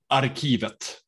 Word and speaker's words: Arkivet: What's the right pronunciation? Arkivet.